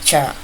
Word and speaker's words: char: We pronounce this ch h a r as char.